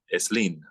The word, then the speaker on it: Slim: believe whose last name is spelled slim that's pronounced eslin so the process is still active in Spanish